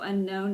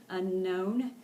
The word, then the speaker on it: unknown: of those silent letters the K is silent unknown and we also have a vowel diagraph as well the O and W um is just pronounced an O unknown okay and there's one